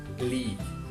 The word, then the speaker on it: league: um padrão, que são palavras que terminam com G, U, E. E nesse caso, novamente, as vogais U, E não são pronunciadas. Então, nesse caso, só pronuncia o G, aquele G seco, sem nenhuma vogal. Cuidado para não colocar vogais depois dessas palavras. Vou dar alguns exemplos que são colleague, play, fatigue, vague, league.